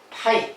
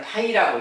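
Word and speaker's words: φ: 그리고 공집합은 이제 별도로 파이. 자,요 글자는 파이라고 읽습니다. 파이.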